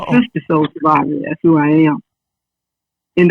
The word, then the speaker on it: SISTA Soul Survivor: You said Soul Survivor. It's SISTA Soul Survivor.